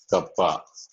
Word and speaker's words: kappa: Conductivity is denoted with K, kappa. Okay. Conductivity. This is called pronounced as kappa.